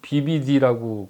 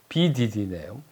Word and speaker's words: BDD: 제가 이 BDD님을 BBD라고 가끔 발음을 잘못해서 그러는데 BDD네요. 자, 임자일주입니다.